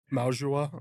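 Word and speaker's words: Mauigoa: They did sign draft Arvell Reese and then Francis Maujua, I believe is how you say his name, in the first round at edge and offensive tackle.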